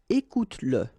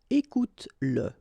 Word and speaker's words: écoute-le: Écoute-le. Okay, écoute-le. So here you pronounce it. And then finis-le. Okay, regarde-le, écoute-le, finis-le.